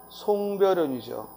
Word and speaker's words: 송별연: 다음 4번 송별연이죠. 이때는 첨가가 일어나면 안 되고 송별연하고 첨가가 일어나면 안 되고 그대로 연음해서 뭐야? 송별연. 특히 긴 소리가 납니다.